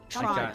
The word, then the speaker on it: Toronto: first of all you're saying it wrong it's pronounced tono torono there's no te's in it trono drink yeah Toronto okay the first time I ever actually smoked